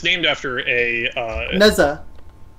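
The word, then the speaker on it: Nezha: It's named after a Neza. Yeah, Neja, I think. I had to like Google the pronunciation. It's based off of, I think, a Hindu legendary hero. But yeah, Neja, really cool.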